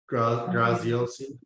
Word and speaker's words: Graziosi: Graziosi.